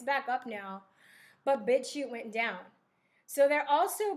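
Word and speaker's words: BitChute: you never heard a bit shoot it's it's spelled b-i-t-c-h-u-t-e it's a competitor of youtube bit shoot pitch shoot and if you have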